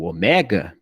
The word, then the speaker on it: ômega: Aí o eta e o ômega não se pronunciam com acento agudo, tá? Então você vai pronunciar ele fechado, como se tivesse um acento circunflexo.